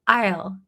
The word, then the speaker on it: I'll: So I didn't say I will call you back. I'll I isle. So we write it with apostrophe. Ll. Pretty tricky. I'll I'll call you back. Very close. Isle. Remember isle. Very good. Excellent. So remember to listen. I I'll is pronounced differently than I will.